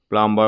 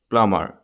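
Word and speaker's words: plumber: কয় ল্যাম্প টি ও এমবি টম নয় টম প্লাম্বার বলি না কয় বি টু উজ্জ্ব হয়ে থাকে বিটু সাইলেন্ট হয়ে থাকে প্লামার বোম বলি না কয় বি টু সাইলেন্ট হয়ে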